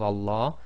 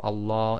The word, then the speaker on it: Allah: fata so always remember the Lamb of Allah is always two lengths long so in conclusion we